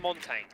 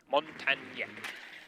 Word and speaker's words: Montagne: Guys picked up again then by Hansen, and Jack is on Montaigne. Montagne. This, I got corrected on Twitter last time I horribly pronounced I that.